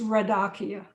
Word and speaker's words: Radakia: you to know that the way you say my name is radakia i'm sorry that's okay